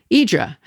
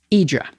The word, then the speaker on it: Hydra: Idra. The morning fairy returned to Pereas at about 8:00 p.m. It's spelled H Y D R A, but it's pronounced Idra.